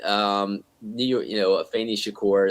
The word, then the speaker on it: Shakur: you know a famous Shakur that's how she pronounces her name a little strange but a fantasy course